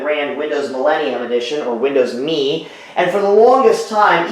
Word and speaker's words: Windows Me: phonetic the phonetic pronunciation but Microsoft intended for you to pronounce it as the word me just me Windows me so I know I